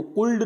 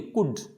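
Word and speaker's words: could: आ रहा है तो इसको कुल्ड नहीं पढ़ेंगे, कुड। वुड, शुड, तो यहाँ पे जो L आ रहा है ये L क्या होगा, साइलेंट होगा, तो इनको पढ़ा जाएगा कुड, वुड।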